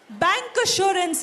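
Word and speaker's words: bancassurance: Bank assurance is what I was looking for as an answer. C. Yes, it is not K. The spelling is C, but the pronunciation is bank assurance.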